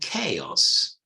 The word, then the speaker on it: chaos: Chile cherry cheese but these words of a Greek origin they're pronounced choir and Chaos choir not coerug or